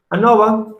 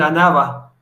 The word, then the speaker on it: ANOVA: ANOVA proviene del inglés Analysis of Variance, pero no sé si lo pronuncio bien. Y en español sería análisis de la varianza. Es lo que significa. Entonces, deberíamos en todo caso decir ANAVA, pero por convención casi siempre, muy pocas personas escuché que le digan ANAVA. Tiene una profesora de Santiago que ella lo pronunciaba así, Santiago del Estero.